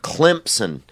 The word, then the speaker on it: Clemson: You have Clemson. You know, they pronounce it with a P in it, but it doesn't even have a P in it.